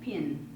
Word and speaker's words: pin: pen or a stick pin, and they pronounced pen and pin identically because of this Elizabethan pronunciation characteristic that we still have.